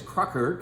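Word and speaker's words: Kracher: who are these two influencing entities one is Crocker k r a c h e r perhaps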